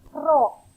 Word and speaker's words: rho: simbol yang seperti ini dibacanya adalah ro ditulisnya rho ro itu adalah simbol